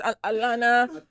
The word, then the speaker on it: Alana: How is it pronounced? Alana. I think they say it's Alana.